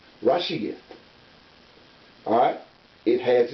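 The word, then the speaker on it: רֵאשִׁית: And it's pronounced this way. Rashiyat. Rashiyat.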